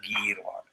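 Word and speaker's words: गीर्वाण: Only syllable that is long is girvana. So you have to say that as girvana.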